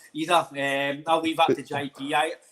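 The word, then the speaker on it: Idah: man up front, big Aida. Not Ida. He'll probably come on one day, sorry for saying his name wrong, but Ida.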